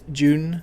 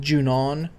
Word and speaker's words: Junon: you know I always always call this place June it's actually pronounced junon and U yeah we're going to get we're